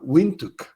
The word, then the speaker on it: Windhoek: El primero de ellos en la ciudad de Windhoek, se pronuncia de una forma inusual, Windhoek, la capital de Namibia, donde esta práctica de la reutilización directa potable viene funcionando desde 1968.